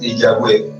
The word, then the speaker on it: Yahweh: No hay quien sepa cómo se pronuncia exactamente el nombre de Dios. Lo que se cree que puede ser lo más cercano es Yahweh, pero no hay una certeza de eso.